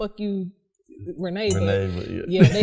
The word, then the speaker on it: Rene: my middle name wrong they say it renny okay because it's spelled r-e-n-e i don't know how to you renee yeah they say reading